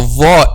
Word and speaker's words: ظ: Actually, when we pronounce letter dha, the back of the tongue is raised. So letter dha, it's a heavy letter.